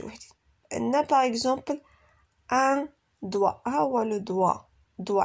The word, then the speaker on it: doigt: Alors la lettre G est muette dans certains mots et ne se prononce pas.